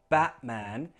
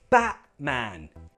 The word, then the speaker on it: Batman: But lastly, if there is a vowel, T sound, consonant sound, for example, in words like Batman, then it's fine. You can use that glottal T, Batman.